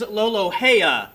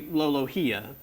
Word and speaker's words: Loloa: It is loloa. Okay. Loloa. Okay. I thought it would be lolohia, but uh yeah, that's good.